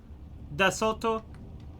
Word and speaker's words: d'assaut: D'assaut. It's the same as in French.